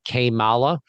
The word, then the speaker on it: Kamala: my friend Doug Casey, who pronounces her name Kamala. If you guys speak Spanish, it's basically like, how bad?